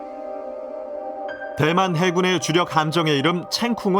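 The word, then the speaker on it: 成功: 해군의 주력 감정의 이름 챙 쿵 은 바로 대만의 영웅 정성공 의 성공을 중국어 식으로 발음한 것이다 정성공 의 대만의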